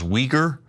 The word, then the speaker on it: Uyghur: That is the Turkish and Turkic way of pronouncing it. And you might hear it in the American press as Uyghur, the Uyghur people in China, but it's all the same thing.